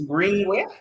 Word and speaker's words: Greeningway: Pronounced as Greenway, but then it's Greeningway.